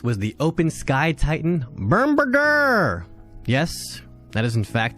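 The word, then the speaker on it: Bombirdier: Up next was the Open Sky Titan, Bermberger! Yes, that is in fact the correct pronunciation.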